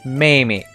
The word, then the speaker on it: Mamie: If you're curious about how you pronounce her name, in Japanese, it's Mamie.